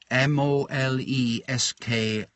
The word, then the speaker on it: Moleskine: I use a moleskin notebook, M-O-L-E-S-K-I-N-E. So it's not 100% sure what the correct pronunciation of everybody calls it moleskin, but some people then think it's S-K-I-N, but it's S-K-I-N-E. So I suppose it's moleskine.